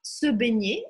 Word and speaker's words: se baigner: У него «se baigner» — «nje» читается не мягкое.